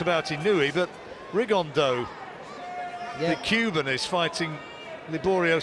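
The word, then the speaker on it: Rigondeaux: though or as he's correctly pronounced with the Spanish accent riggan Dow Chu absolute geniuses but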